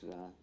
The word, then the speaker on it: Ra: and the Egyptian goldra some say R but it's ra me the same people who who who spell it R R E then go and write the name of the Pharaoh rames rames which means isue emanating from r so when they say the name of the Pharaoh they say ra but when they say the name of the god they spell it R it's ra it's ra because it's also appears in